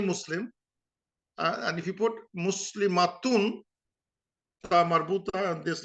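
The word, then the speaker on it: مسلمة: So this is basically Muslimah, matun. This Muslimatun, and ta becomes ha, so it becomes Muslimah. And sometimes when you in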